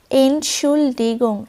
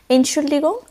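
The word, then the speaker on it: Entschuldigung: মাফ করবেন এগুলো বলার জন্য এনসলিগং তোমরা এখানে উচ্চারণটা আমি ভেঙ্গে ভেঙ্গে লিখে দিয়েছি দেখবে এনসুল ডিগং একটু চেষ্টা করবে দেখবে এরপরে ইজি হয়ে যাবে এনসুল ডিগং এটা তোমরা পোলাইড ফরমালি ফরমাল ভাবে ইউজ করতে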